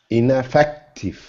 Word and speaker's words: ineffective: on the third syllable say it again for me ineffective good you can be even stronger in ineffective ineffective so it's really effect